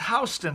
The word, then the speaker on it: Houston: it's spelled houston yes what is that it's pronounced houston street uh and it's uh i guess it